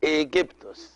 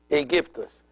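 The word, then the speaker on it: Aigyptos: So they pronounce it Aegyptus. Aegyptus. They changed the K into G, and they added at the end of the word the OS, which is the Greek ending of the names.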